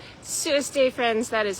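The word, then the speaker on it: សួស្តី: Sueste, friends, that is how you say hello in Khmer in Cambodian.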